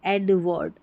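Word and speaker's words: Edward: Named, named एडवर्ड, एडवर्ड, इसको वर्ड पढ़ना है, वार्ड नहीं पढ़ेंगे, एडवर्ड।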